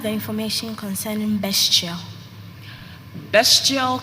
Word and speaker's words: bestial: information concerning best chill bestial could also be pronounced bastille it is middle